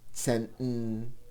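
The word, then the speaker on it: צענטן: Now this gets a bit tricky to pronounce when the word already ends in an N or a Nun, followed by a T or a Tes. Neunten, Zenten. It takes practice not to insert a vowel, and the T is not fully aspirated.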